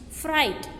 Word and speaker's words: fright: Next, fright. Here GH is silent.